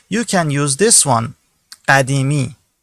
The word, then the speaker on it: قدیمی: point of view, you can use this one, قدیمی. قدیمی. I'll repeat the pronunciation.